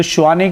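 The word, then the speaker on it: Tshwane: तो श्वाने कहते हैं और वो जो टी है वो साइलेंट रहता है।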